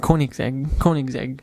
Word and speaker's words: Koenigsegg: more and I don't want to say the name wrong because as people in the comments man I'm not Koenigsegg coin exactly Koenigsegg yes cool absolutely now that thing comes with